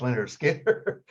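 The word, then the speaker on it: Lynyrd Skynyrd: I said, "Leonard Skinner, pronounced Leonard Skinner."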